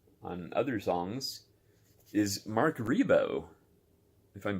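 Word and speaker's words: Ribot: other songs is Mark rebo if I'm pronouncing that correctly it looks like Reebok but I believe it's rebo I could be wrong if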